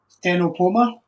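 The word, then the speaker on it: Ctenopoma: CT. Is that like PS and it changes the sound of it? Stenopoma. Stenopoma. So the CT becomes an S.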